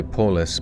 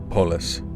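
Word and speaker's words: polis: Say Polus but run the words together. Polus. Oh, they don't just say police. That Do they phonetically write it out that way? P O L I S. Polus, I managed to get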